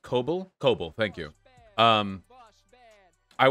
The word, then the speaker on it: Kabul: official sources say 30 days at most it's pronounced cobalt cobalt thank you um i would be surprised if they lasted 30 days i'd be surprised if they lasted 10.